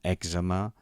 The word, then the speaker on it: èczema: Hi ha paraules que a vegades es pronuncien malament, com èczema o pneumònia, per exemple. No serveix de res saber accentuar bé si després ens basem en una pronunciació errònia per accentuar.